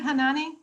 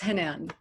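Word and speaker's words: Hanane: yeah can we unmute hanani thank you yes um so um just uh for the record because this is going to be recorded um the e on my name is silent so it's henan oh i'm sorry i've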